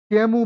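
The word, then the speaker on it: Camus: मतलब लिखा, to Albert कामस, जिनमें प्रमुख व्यक्ति हैं एल्बर्ट कैमस। इनको क्या बोलते हैं? Albert कैमू। क्या पढ़ते हैं इनको? एल्बर्ट कैमू, एस साइलेंट होता है, हाँ, कैमू।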